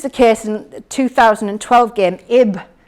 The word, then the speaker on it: Ib: case in 2012 game ib pronounced on eb which was available free